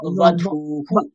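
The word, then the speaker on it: वधूः: বুধুঃ বোনা ব, বধূহু। বাধুঃ বনা ওয়া, ওয়া, উপরের দাঁত নিচের ঠোঁট, ওয়া, বধূহু, বাধুঃ বধূহু, বধূহু।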